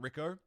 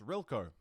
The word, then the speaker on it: Rilco: That's not Rico. That's Rilco. It's Rilco. I'm so sorry, mate. How are you? I'm probably saying your name wrong still, anyway. But it's not Rico.